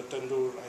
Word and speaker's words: tandoori: Yesterday I had the opportunity to try different fish courses, Indian, and I would suggest help me if I'm wrong with the pronunciation, tandoori.